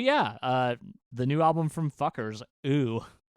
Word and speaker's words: Fcukers: It's just Fuckers. Their new album is called ooh, I think is how it's pronounced.